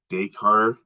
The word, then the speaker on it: Descartes: by a philosopher by the name of Renee deshar Descartes it's it's spelled d-e-s-c-a-r-t-e-s and uh he wrote about dualism